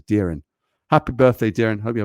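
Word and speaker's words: Doirean: birthday well happy birthday my name is d-o-i-r-e-a-n and luckily this pronunciation there says darin happy birthday darren hope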